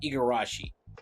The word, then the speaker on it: Igarashi: Oh, that's how you pronounce Igarashi.